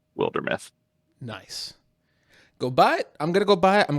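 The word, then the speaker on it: Wildermyth: my friends posed the question in it is pronounced wilder meth nice go buy it i'm going to go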